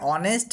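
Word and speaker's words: honest: অনেস্ট ম্যান খেয়াল করো এই যে অনেস্ট ম্যান পড়লাম এর প্রথমেই কিন্তু অ সাউন্ড উচ্চারণ করছি অনেস্ট ম্যান অনেস্ট ম্যান তাই এর পূর্বে এন ব্যবহার করব নিয়ে বলব এান অনেস্ট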